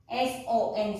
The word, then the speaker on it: son: And then il and l, it will be son, S-O-N, son, sa and say.